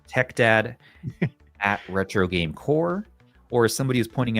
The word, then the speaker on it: Corps: Tech, at Retro Tech Dad, at Retro Game Core, or as somebody who's pointing out they didn't understand what Retro Game Core mean. Why am I not pronouncing the corpse?